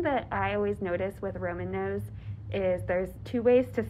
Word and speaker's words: Roman Nose: The way some people say Romanos, and then people in parks, we make it like it's one syllable. It's like, yes. Yep. Romanos. And then you're like, what's that word you keep saying? You gotta say two N's. It's got two N's in there.